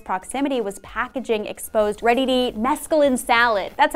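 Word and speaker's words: mesclun: employee in close proximity was packaging exposed ready mesculin salad that's how you say that word this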